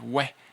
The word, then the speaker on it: oui: You can pronounce it a lot of different ways. We is the most common.